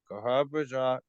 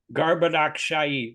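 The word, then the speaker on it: Garbhodakaśāyī: Therefore, all three, namely Brahma, Vishnu, and Shiva, are incarnations of the Garbhadrakshaya. I said it wrong. Garbhadakshayi with the S with a slash over it and is pronounced SH.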